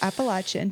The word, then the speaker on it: Appalachian: pronounce it I got in so Appalachian. much trouble when I first moved here. It's Appalachian.